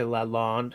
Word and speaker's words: Lalonde: Yeah, but like, I'd say in English you would probably say Lalonde, right? Londe rhymes with blonde.